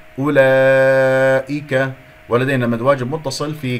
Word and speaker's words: أولئك: لا تقول أولئك، هذه واو تكتب، هذه فوقها الصفر المستدير هذا تكتب ولا تلفظ. لا تقول أولى، انتبه، أولئك، ولدينا مد واجب متصل